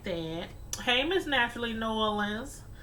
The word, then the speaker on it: New Orleans: All my life, always called it New Orleans. And then I started hearing people say, Nolans. I'm like, okay. Don't kill me. Okay, I'll pronounce it like that. But yeah, I know a lot of Southern people, they say Nolans.